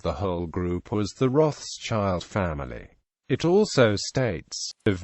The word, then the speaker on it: Rothschild: The German family name Rothschild is pronounced approximately Rothschild in German, not Rothschild as it is in English.